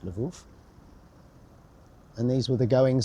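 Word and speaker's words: Lwów: and in Polish it's spelled this way laou pronounced Lou and these were the going on in 1918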